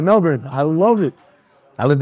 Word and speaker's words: Melbourne: to Melbourne yeah and you said it right Melbourne I love it I lived there for a